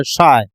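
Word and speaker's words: psi: ये Greek letter है, इसको जब भी यूज करते हैं alpha, beta, gamma, delta, lambda, ईटा, थीटा, साई, PSHI साइलेंट होता है।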